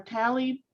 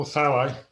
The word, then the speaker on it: thalli: Craig Mueller inquired, are tally perennial? If so, can they be long-lived? Are which ones? Tally. How is that pronounced, Greg? Oh, thalli.